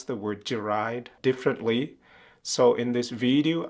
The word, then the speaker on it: Jarai: So in the past, in the 1800s, perhaps even in the early 1900s, it was common for them to say Jarai, but they spell it as Djarai.